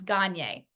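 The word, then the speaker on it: Gagné: Gagne's model of instructional design is going to underpin, and by the way, we had to look up, how do you pronounce Gagne?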